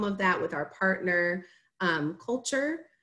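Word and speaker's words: CLTURE: that with our partner, Culture. It's spelled C-L-T-U-R-E. They're out of Charlotte, so that's the play on words.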